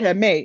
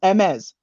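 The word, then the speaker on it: Hermès: He said Hermes. No, it's Hermes. Guys, the S is pronounced.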